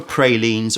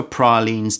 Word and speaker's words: praline: this is hunting for pralin or hunting for pralines depending on how you like to pronounce that word I will stick with pralin because that's what comes most naturally for me take a look at